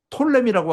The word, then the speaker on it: 프톨레미: 푸자는 묵음이 돼가지고 톨레미라고 하기도 하고 뭐 셀루커스, 톨레미하고 셀루커스 이 두 개입니다.